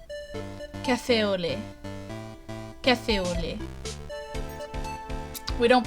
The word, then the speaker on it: café au lait: You don't pronounce the T. Café au lait.